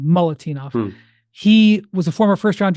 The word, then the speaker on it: Milutinov: They sat Nikola Moltenov, who is Milutinov, I believe is how you say it. Mulatinov, I think is actually, I said it wrong. Mulatinov.